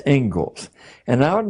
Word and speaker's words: Inglis: Looks like Inglis, but it's pronounced Ingalls.